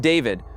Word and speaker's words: D4VD: The car was registered to David Anthony Burke, the 20-year-old singer known as D4VD, pronounced David.